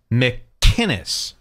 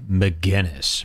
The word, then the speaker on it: McInnes: a rag gavin mcginnis the man goes out of his way to pronounce it how it's written mckinnis mick kinnis and all of these losers keep saying mcginnis mcginnis it's a totally different name gavin hates that by